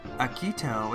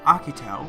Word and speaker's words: Akito: Akito is now Akito, as it should be.